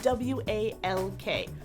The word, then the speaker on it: walk: She says them with an ah, the way I would say box or cot. Shadow again. What spiritual goals are we talking about? Talking. All we've got is whatever's in that walk-in. Walk. But if you look in the dictionary, you see it with an aw, the way I would say bought or caught.